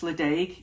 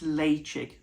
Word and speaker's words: Ledaig: You think it's Ledaig, it's not. I think it's Leitchick.